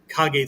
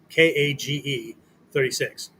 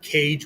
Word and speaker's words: KAG: long time has been Kag 36. K A G-36. Yes, Virginia is pronounced Kag, not cage with a K.